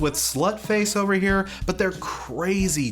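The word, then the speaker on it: Sløtface: And remember, it is pronounced Slutface. I'm not sure that's how the crossed out O actually works, but that's what they want to call themselves, so, you know, show the proper respect.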